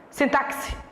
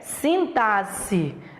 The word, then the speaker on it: sintaxe: sabe nem pronunciar né Tem gente que diz sintase sintaxe pronúncia errada a pronúncia é sintase e análise das funções